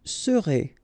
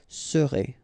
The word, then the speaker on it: serez: Vous serez, a Z together at the end, et serez, all right?